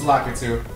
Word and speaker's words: Lakitu: It's Lakitu.